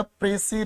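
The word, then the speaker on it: précis: इसकी एक तो प्रोनाउंसिएशन ठीक करोगे, लगभग बच्चे बोलते हो प्रीसाइज, तो ऐसा कुछ नहीं बोलना, इसकी प्रोनाउंसिएशन होगी प्रेसी।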